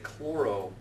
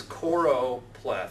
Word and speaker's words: choropleth: only latin i know most undergrads want to say chloroplath or chloropeth and i'm just introducing that to mess with your heads because now you'll not know how to say it no but it's choropleth c-h-o-r-o-p-l-e-t-h plethod's value i